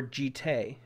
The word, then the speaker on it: Jitte: ridiculous you need jesus it's pronounced jit or jite i've heard both it's jittery we still